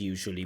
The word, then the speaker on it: usually: that the word usually should be pronounced as usually with a J because we spoke about